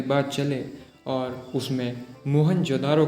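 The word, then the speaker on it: मोहनजोदड़ो: आओ दोस्तों आज हम मोहन जोदारो की गलियों में घूमते हुए हमारे प्राचीन गौरवशाली इतिहास को महसूस करने की कोशिश करते हैं मोहन जोदारो शब्द का सही उच्चारण है मोहन जोद और इसका मतलब है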